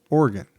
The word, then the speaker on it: Oregon: There's one way to say it. Yeah. Oregon. That's what I say.